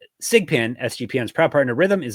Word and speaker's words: SGPN: That's mybookie.ag, promo code SGPN. Pronounced SIGPIN. SIGPIN, SGPN's proud partner, Rhythm,